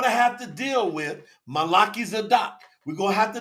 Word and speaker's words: Melchizedek: He's following the order of Melchizedek, not Melchizedek. You got to learn how to spell that.